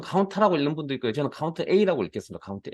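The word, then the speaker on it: COUNTA: 저는 카운트라고 읽는 분도 있고요. 저는 카운트 A라고 읽겠습니다.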